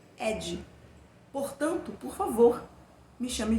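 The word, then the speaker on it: Eddie: E ele já começa conversando com a gente, ele diz o seguinte: mas meus amigos me chamavam de Adi, que em inglês pronuncia-se Ed.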